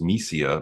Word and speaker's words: Missiya: the festival circuit it's a Russian word pronounced mesia means the mission and